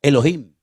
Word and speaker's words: Elohim: Y el primer nombre que conocemos de Dios, si empezamos a leer la Biblia desde el principio es un nombre que se pronuncia Elohim.